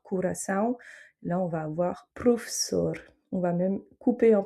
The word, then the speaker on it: professor: Par exemple, signor, favor, ou encore professor. Donc là, on aura le premier O qui se prononce OU parce que c'est en fait l'inverse